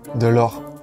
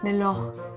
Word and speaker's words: Delort: Delort. Sin la T. Ah. Sin la T. Delort. Delort.